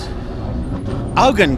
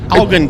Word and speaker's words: Eugen: Augen Gaspar, that's right. Yes, well, I got the surname right. Augen Gaspar. It's spelled exactly the same as Eugene. It just doesn't have the E on the end.